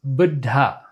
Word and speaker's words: Buddha: When I pronounce it correctly, there's a double consonant. The second consonant is aspirated.